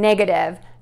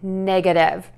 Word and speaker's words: negative: Hi, Jennifer from Tarle Speech with your pronunciation question. Today we have two words, positive, the presence of something, and negative, the absence of something.